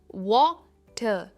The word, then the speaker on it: water: और जब भी हम वाटर कहते हैं ना, हम आर प्रोनाउंस नहीं करते। इट इज वाटर, वाटर एंड नॉट वाटर, चलिए एग्जाम्पल्स देखते हैं.